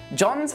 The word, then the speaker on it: John: here are some examples John's a charismatic and honest architect by the way the H in John is silent as well John's vocal cords hurt